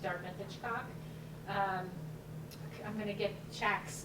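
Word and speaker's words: CACH: I'm gonna get Chac's name wrong, community. Just call it Chac. Chac, C-A-C-H.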